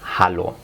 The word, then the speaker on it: hallo: puede traducir al alemán hallo. Ojo, la pronunciación, la H en el alemán se pronuncia. No como en el español la H no se pronuncia.